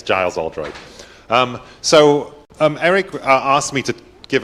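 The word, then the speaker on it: Giles Oldroyd: I didn't know I had the hardest name to pronounce. It's Giles Aldroyd.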